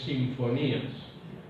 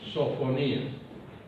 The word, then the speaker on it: Sofonías: Sofonías, muchos no saben pronunciar sofonías y creen que es sinfonías. No, es sofonías.